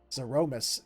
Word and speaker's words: Zeromus: Since November 23rd, 1991, I have been saying Zeramus. And they have a different pronunciation altogether, and it's just like, it hits so weird on the ears because it's not the way I've been saying it.